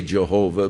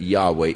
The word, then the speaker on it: Yahweh: the name of Yahweh now again Yahweh is the name of God as far as we can know pronunciations that is as close as man some say Jehovah but more generally the